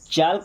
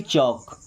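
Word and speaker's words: chalk: के आया के के इन सभी जगह पर भी एल हमारा साइलेंट रहेगा। क्या पढ़ेंगे? टाक नहीं टॉक। टॉक व्क नहीं वॉक। चाल्क नहीं बल्कि चौक।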